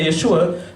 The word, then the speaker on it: Yeshua: Realmente la palabra correcta de Jesús en ese hebreo galileo sería Yeshu, porque los galileos lo pronunciaban la Ain, que es Yeshua. O sea, realmente si usted habla de Jerusalén sería Yeshua, pero en Galilea sería Yeshu.